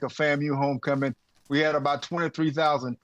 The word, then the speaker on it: FAMU: could be man ow Ben you got to say it right now it's FAMU now FAMU not FAMU FAMU not like Shamu FAMU as Florida A&M